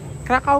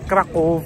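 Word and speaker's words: Kraków: Krakao pala pronounce diyan. Akala ko kasi ang pronounce doon krackov.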